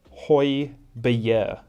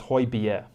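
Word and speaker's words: Højbjerg: hoiberg plays for tottenham he is pierre emile hoy bier so it's hoy bier have you ever you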